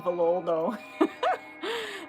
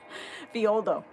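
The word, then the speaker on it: Villoldo: I used to pronounce his name wrong, so I'm sorry if you already received the rights from me and I kept saying Violdo. Those two L's. It's more of a Y. Violdo.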